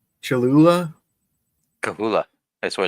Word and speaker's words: Cholula: Kahula. That's what it's pronounced. Yeah, But yes, I like- know what you're talking about. When you say Chuhula, that means you're trying to spell it out